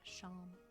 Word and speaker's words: Seam: The name Sham, pronounced Sham.